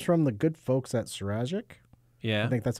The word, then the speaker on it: Sazerac: the it comes from the good folks at sirajik yeah i think that's how you pronounce it they own buffalo trace okay right which is one of your uh favorite things right out there yep cesarec thank you uh owns buffalo trucks sleeve stack